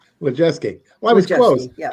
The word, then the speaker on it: Lajewski: i'm gonna give you a little correction it's pronounced lejeusky legeske well i was close yeah i got some